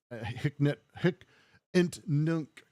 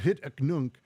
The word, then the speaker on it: hic et nunc: held off, because money, hic ent nunc, as Arachne would say, which is just a terrible pronunciation, Arachne. But hic et nunc, cash doesn't work here